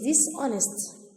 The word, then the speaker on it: dishonest: So he is dishonest. Okay, and untrusted. The opposite is honest. The H is silent.